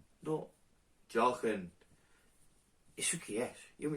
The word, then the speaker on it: Johan: Y hay que decir que los catalanes tenéis que mejorar la pronunciación de mi nombre. Porque yo me llamo Jochen. No, Jochen.